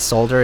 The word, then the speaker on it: solder: Why is it pronounced solder in American English and solder in British English?